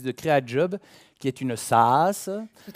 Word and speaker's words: SaaS: Alors, vous êtes vous-même directrice de CréaJob, qui est une SaaS. Tout à fait. Je prononce bien. Oui, SaaS.